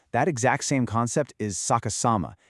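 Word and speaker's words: 逆さま: Section two, Saka Sama, a language in reverse. To really understand this, we need to learn a brilliant Japanese word, sakas sama, pronounced saka sama.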